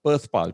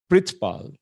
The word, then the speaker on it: Perthpal: born in australia but that's how my name is spelled perth pal p-e-r-t-h-p-a-l well supposed to be pronounced as pritz pal which means world paul